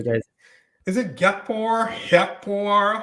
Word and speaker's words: Gakpo: So native English speakers are always going to pronounce that Gakpo, but in the Netherlands, the way to pronounce that is Hakpo.